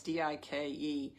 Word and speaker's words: Dike: I've been researching to pronounce her name. Dike, it's Dike.